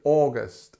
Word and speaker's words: August: have on the list is August and it has this long or sound at the beginning which is stressed and it's long August and then we have our famous schw here August August okay number nine September September